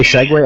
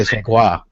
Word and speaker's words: segue: You say segue, I say segwa.